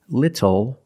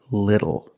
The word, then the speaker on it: little: and for this reason the T changes to a fast D in American pronunciation that's why we do not say little we say little and we do not say bottle we say bottle so this is a